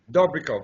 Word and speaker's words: Dobrikov: last name I've never Adit doov do doov doov yes and that's Bulgarian yeah it's uh it's